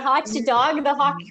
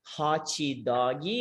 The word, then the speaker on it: hot dog: the hot dog i talked to my students that when they say like a hochi doggy it's like casual you came when they got so of course this is a pronunciation mistake but i guess you